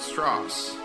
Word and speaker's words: Strauss: Mr. Strauss. It's pronounced Strauss. Okay.